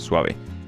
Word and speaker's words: suave: very sw you know you know that you know that suave means like it's a word in Spanish called suave that's how you pronounce it suave and it means smooth